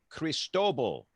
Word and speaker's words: Cristobal: Cristobal.